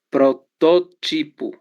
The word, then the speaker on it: protótipo: Protótipo. Proparoxítona. Isso, exatamente, proparoxítona. Sílaba tônica é to, né? Então vamos aqui. Última pó, penúltima ti e antepenúltima to, certo? Então ela é uma palavra proparoxítona, ok?